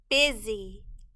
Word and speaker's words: busy: the word is pretty busy busy the u in this word is making a short i sound the s in this word is making a z sound z the y in